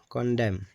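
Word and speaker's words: condemn: इसकी दूसरी एग्जांपल है कंडेम। ठीक है? कंडेम। यहां भी एन जो है साइलेंट रहता है। यानी साकिन रहता है।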